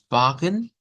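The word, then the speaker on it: Wagen: la estándar y diría vagen se pronuncia vagen recibiendo la acentuación en la a ahora el acento el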